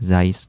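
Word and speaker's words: Zeiss: tulisan Zai bintang ya alias bacanya ada zais disetor nah ini adalah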